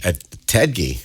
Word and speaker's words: Ettedgyi: Ettedgyi, right? Yeah. Did I Right. pronounce that correctly? You did.